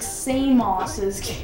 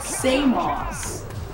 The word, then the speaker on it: Samos: where is samos located like same asses i don't know why i keep pronouncing it that way like say moss okay where is seamlessly